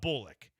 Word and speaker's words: Bullock: There's receipts where I'm like, "Hey guys, start saying it Bullick." Because the pronunciation guy for the Texans even have it. They were wrong. I was right. Texans were wrong about Bullick.